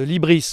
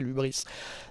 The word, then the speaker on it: hybris: pouvoir, si tu veux, de l'hybris, comme on dit, ou de l'ubris, certains prononcent en français l'ubris.